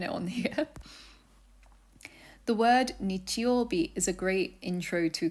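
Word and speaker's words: 日曜日: However, it's pronounced nichiobi. This means that the first sun/day character is pronounced nichi and the last one bi.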